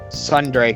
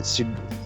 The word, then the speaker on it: Tsundere: I'm not really a fan of Sundere character. I can't pronounce it. Tsundere.